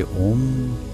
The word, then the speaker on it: ओम: का उच्चारण करेंगे, मगर ये ओम आ उ म, पहले आ आएगा, फिर उ, फिर म।